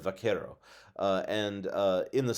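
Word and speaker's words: vaquero: today often times many Cowboys are called Buckaroo which is sort of a mispronunciation of vakero uh and uh in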